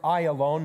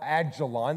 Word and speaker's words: Ayalon: The Ayalon, we pronounce it Ayalon, not Ajalon. There's no J in Hebrew.